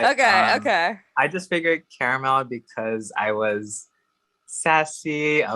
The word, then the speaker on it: CaraMel: i always get like is your name caramel it's like no it's three syllables carom now it just